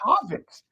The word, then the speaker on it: Havertz: Bro, well, you just said Havertz use any kind of nomenclature. You just said Havertz. But again, who's scoring the goals, bro? You said Havertz is on the nail. It's Havertz.